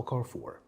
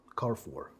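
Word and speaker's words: Carrefour: امينو اسد امينو اسد ناس كتير بتحتار في نطق البراند اللي قدامك ده انما هو زي ما انت شايف كده هو كارف فور كارف فور وبرده مواضع مش هنتكلم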